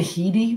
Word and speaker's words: Headey: think how do you some people say he D but I think it's Hetty oh that's uh I